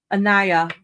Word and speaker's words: Ania: Ania. Am I saying that right? Ania? Pronounce the I like you're saying the letter. Anaya.